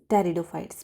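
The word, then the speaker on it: Pteridophytes: ठीक है, सो ए for alga, A for angiosperm, ji for gymnosperm, B फॉर ब्रायोफाइट्स और पी फॉर टेरिडोफाइट्स। P silent रहता है, मैंने टी इसलिए लिख दिया कि आपको याद रह जाए आराम से।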